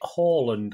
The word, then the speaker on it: Haaland: Of course, Stuart Brennan looks forward to City with some bloke called, I think you pronounce it Haaland, I think.